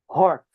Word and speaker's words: Hertz: And it's measured in hertz. Hz zed. Right? It's spelled H E R T Z right and